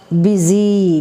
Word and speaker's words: busy: e sound where how busy b u s y busy though it is you it gives e sound busy business e sound business